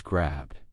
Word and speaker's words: grabbed: have the intention of pronouncing the D sound. So, as long as you're thinking that as you speak quickly, then it will come across as grabbed. Grabbed. It's so fast, but I'm not over pronouncing grabbed.